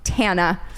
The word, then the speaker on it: Tana: of information then you know that it is pronounced tana and so I will say she should have